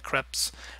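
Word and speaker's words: crêpe: know people eating the creps I say crep because that's how you say it in French some people say crepe whatever you pronounce it as um these things are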